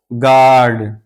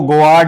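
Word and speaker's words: guard: जैसे गार्ड, गार्ड, यहाँ इसको गोआर्ड नहीं पढ़ेंगे बल्कि यू के बाद मुत्तसिलन ए आया है तो अब ये यू साइलेंट है यानी इसको नहीं पढ़ेंगे, इसको पढ़ेंगे गार्ड।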